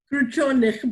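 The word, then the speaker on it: Kruchenykh: She's the original English language translator of the first futurist opera Victory Over the Sun by Alexei Krushenich. Did I do it right? Krushenich, but we're taking any 3 syllables with a K.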